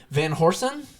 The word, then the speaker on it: Van Horsen: here we are here today with sean van horsen is that how you pronounce your awesome that is how you say